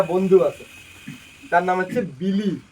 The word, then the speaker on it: Billy: হ্যাঁ, আমার পুরানা কালের একটা বন্ধু আছে, তার নাম হচ্ছে বিলি। কি নাম? বিলি। বিল্লি নাকি, বানানটা বিল্লি মনে হবে, কিন্তু উচ্চারণ করবি বিলি, BILLY, ঠিক আছে, BILLY।